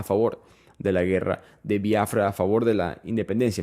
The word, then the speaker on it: Biafra: Y por si acaso se escribe Biafra, no tiene acento en la I. Estoy diciendo viafra porque en el inglés, especialmente en Nigeria, se pronuncia de esa manera y estoy tratando de ser honesto a como ellos lo llamarían.